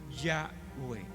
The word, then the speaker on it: Yahweh: Entonces, estas cuatro consonantes, conocidas como el tetragramatrón, que es en griego, y agregándoles las dos vocales, la A de Adonai, la E de Elohim, entonces se puede pronunciar como Yahweh.